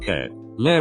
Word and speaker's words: Kep1er: according to sport speeder the name pronounced k lair reportedly combines the first syllable of catcher this represents members capturing